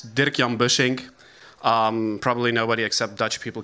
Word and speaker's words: Dirkjan Bussink: is my name i'm uh it's called it's dirk yam bushing probably nobody except dutch people can pronounce it you can find me online usually